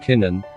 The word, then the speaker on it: kinin: pronounced and or spelled kinin that is ki with a long i and nin the key is c